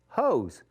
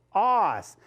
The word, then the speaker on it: hose: And then the last one is hose, hose. Oh, I hear the O. But if I don't put anything else, it's going to say hoss. Hoss. No, that's not a hoss.